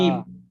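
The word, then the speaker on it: ج: জিম। জিমটা একটু জোর জিম। দিয়ে, বর্গের জোর উপরে একটু জোর হবে।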